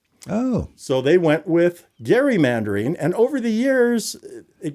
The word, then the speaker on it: gerrymandering: your senators, whomever all who is saying it wrong. Gerrymandering. Let them know. not gerrymandering. Just remember that.